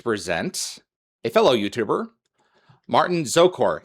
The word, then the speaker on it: Szokor: Sokor? Sokor. Oh, Yep. so it wasn't too hard. Okay, so the Z is silent.